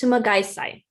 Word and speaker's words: Sumagaysay: My last name reads Sumagaisai, but it's pronounced Sumagaisai.